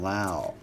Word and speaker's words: Lowe: many years ago jimmy i would be like brandon love like rob lowe he'd be like no it's brandon lau he's a big tampa bay rays fan jimmy taught me the pronunciation then he turned out to be a really good baseball player brandon low corbin gotta let it burns